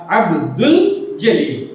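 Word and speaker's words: عبدالجلیل: جیسے عبد الجلیل، اس کا تلفظ اس طرح ادا کیا جائے گا عبد الجلیل، عبد الجلیل.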